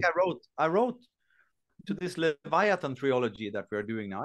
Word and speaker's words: Leviathan: I was thinking about how to pronounce Leviathan in English today, because in German you say Leviathan, and I never like thought how is it in English? It's Leviathan.